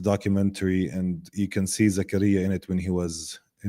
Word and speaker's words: Zakaria: One of the figures that was released today was, I may mispronounce this, correct me if I do, Zachariah Zubeidi. Yeah, we say Zakaria though.